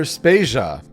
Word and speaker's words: Spasia: is Joe de Vader and I'm Peter spasia we're brought to you by Anonymous dinosaur and rhymes with Asia it's time to appreciate